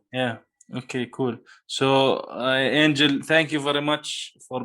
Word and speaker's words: Angel: look for my name angel that last name is spelled r i b as in boy o angel is like an angel from heaven a-n-g-e-l right so and